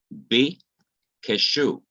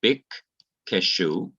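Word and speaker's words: בִּקְשׁוּ: So it is now pronounced bi keshu. Instead of it being bik keshu, it is now bi keshu.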